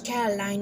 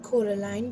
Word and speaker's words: Coraline: she'd fallen into quarter land's name is always pronounced wrong as caroline not coraline by her neighbors mr b mrs pink